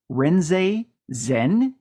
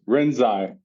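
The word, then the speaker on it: Rinzai: Brandon, you're ha have to help me out with the pronunciation of this. Uh, Renzen. Close. Renzai.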